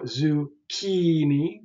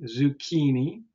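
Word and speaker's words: zucchini: sort of Silent things the second last syllable the penultimate and you may know this already if you know zukini zukini right that's the second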